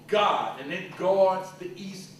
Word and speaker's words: Gad: tribe is the showbread you call it Gad but it's pronounced God one of the so-called 12 tribes of Israel is called God and it guards the